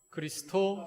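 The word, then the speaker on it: Χριστῷ: 원문입니다 다같이 따라해 보실까요 크리스토 쓰인 s 타오 로마 2 아니 저랑 같이 알았냐 따라 하시라 예 크리스터 쓰인 s 타워 로마 2 아 아주 잘하셨습니다 그리스 터에 악센트가 있구요 크리스토 지인 발음입니다 그 다음에 쓰인 에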